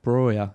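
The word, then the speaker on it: Broja: Yeah, nicely swerved his name because I'm not entirely sure how you pronounce it. Is it Broer? Broer, yeah.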